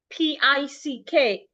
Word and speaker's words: pick: P I C K. Pick. P. Not peek. Pick.